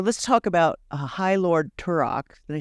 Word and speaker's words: Turak: So let's talk about High Lord Turok.